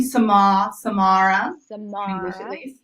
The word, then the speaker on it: Samara: My name, Samara. English at least, Samara.